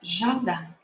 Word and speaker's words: jardin: Remember that an I-N in French sounds like an A-N. Le jardin.